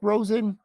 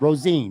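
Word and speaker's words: Rosén: first rounder is it i always pronounce his name wrong isaac rosen rosine rosine that's what it is isaac rosine i always look at josh rose and the quarterback because it spelled the same way anyway okay so they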